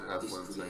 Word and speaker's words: Ethlend: Ethlend.